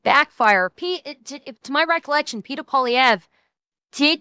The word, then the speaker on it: Poilievre: I admit it, my pronunciation may be sounding fucked up because of the VC, but it's Polyev.